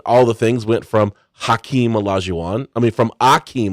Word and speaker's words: Hakeem: he basically told reporters, "My name is not actually Akeem; it's Hakeem."